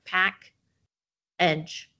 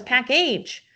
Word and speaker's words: package: Here's another opportunity for you to teach kids the schwa sound, which we saw come up in second grade, where, hey, it has the VCE syllable type, but it's getting lazy here, and so now it has a different sound.